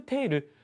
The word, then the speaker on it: 両: 認める賠償金 2億テールま量と書いて中国のお金なんて真の貨幣単位と書いてあるけどテールと発音しますねテールですねま